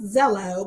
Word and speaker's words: Xello: Once they enter that dashboard, or they log on and they're able to access their dashboard, the Zello app, and Zello is spelled XELLO, should appear.